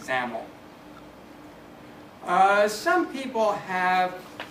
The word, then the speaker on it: XAML: as the extensible application markup language XL pronounced zaml uh some people have